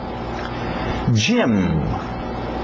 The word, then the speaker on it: gym: Gym, gym, gym. Parece o nome Jaime, gym também, mas vem de gymnasium, ginásio, comprido.